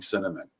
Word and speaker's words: cinnamon: I've always had a hard time saying cinnamon. Because I always want to put an extra syllable like in it.